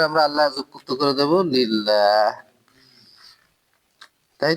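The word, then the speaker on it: لله: আল্লাহ যুক্ত করে দেব লিল্লাহ, তাই তো? এই লিল্লাহ হচ্ছে মূলত লামজের লি মানে জন্য প্লাস আল্লাহ, এই দুইটা একসাথে লিখতে গেলে এরকম লিখতে হবে, তখন আলিফটা সাইলেন্ট হয়ে যাবে।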